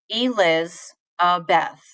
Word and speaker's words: Elizabeth: So let's think about my name, Elizabeth. Eliz, Beth. So I don't stress the E, I put more stress on Liz.